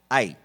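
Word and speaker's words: Hai: Había que conquistar otra ciudad, que era la ciudad de Ai, H-A-I, sin acento en la I, Ai.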